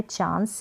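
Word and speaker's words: chance: फिर यहाँ पर है चांस, ये है चांस, CH को च, ए को आ के रूप में चा और ये जो एन आएगा ना एंड में इस तरीके से, तो वो आधे न के रूप में प्रोनाउंस करेंगे।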